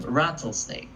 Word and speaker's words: rattlesnake: I think there's a difference between the pronunciation of L and an R, and I do believe that it's hard for you to do that.